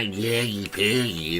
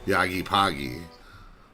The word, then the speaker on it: Yaggy Poggy: Everybody calls me Yaggy Paggy all the time, and it's like, it's not Yaggy Paggy, it's Yaggy Poggy.